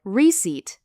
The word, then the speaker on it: receipt: Make sure to pronounce the letter P silently. It sounds like receipt.